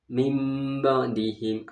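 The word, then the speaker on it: مِنْ بَعْدِهِمْ: Ya, contohnya mim ba'dihim, asalnya min ba'dihim. Cara membacanya mim ba'dihim, nun mati bertemu dengan ba.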